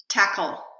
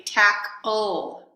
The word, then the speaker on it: tackle: i did a syllabification the first word is tackle tackle I tried to produce that with no vowel so I tried to do a syllabification tackle if I were producing the the vowel between the two sounds I might say tak ol don't tackle too hard